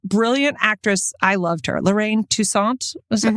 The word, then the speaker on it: Lorraine Toussaint: Lorraine Toussaint.